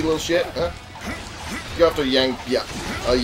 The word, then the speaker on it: Yang Biao: Go after Yang Biao. Yang Biao. Yeah, I was pronouncing it right the first time.